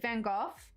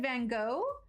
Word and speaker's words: Van Gogh: So if you watch, like in Doctor Who, they pronounce it Van Gogh with an F. I know that I've always said Van Gogh, but I think it depends on where you're from. I don't know.